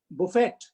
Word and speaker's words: buffet: t was pronounced as buffett or buffett actually the word is buffet or buffet the letter t is silent but they were not